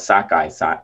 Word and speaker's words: sockeye: is red but um red is also called sakai salmon so thinking of like poking a finger in the eye sockeye that's amazing there